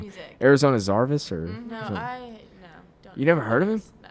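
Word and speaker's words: Zervas: It's Arizona Zarvis. I think that's how you say it.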